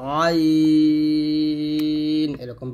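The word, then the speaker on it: عين: তারপর হচ্ছে আইন আইনটা চাপ দিয়ে বলতে হবে আইন এরকম ভাবে তো আইন এর গাণিতিক মান হলো 70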